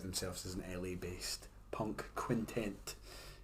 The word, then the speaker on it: quintet: Like I said, I heard that they described themselves as an LA-based punk quintet. Quintent. I still haven't pronounced it properly. It's not a 5-person tent. It's a 5-person band.